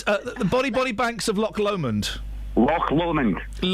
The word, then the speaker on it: Loch Lomond: It's the Body Banks of Loch Lomond. Loch Lomond. It's not lock. Turn the fader off so I can spell it. It's not a lock. It's Loch Lomond.